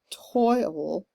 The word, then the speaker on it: toil: Toil, which is kind of a 2-syllable word the way I'm pronouncing it. Or you could do it as 1 syllable, toil, and with the unaccented there on the and then trouble.